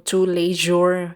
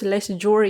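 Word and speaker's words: Tous les Jours: Dito po tayo bibili sa two yesan mahirap pala i-pronounce itong to leure mga kabista akala ko dati ito less jure yan eh French word pala ito.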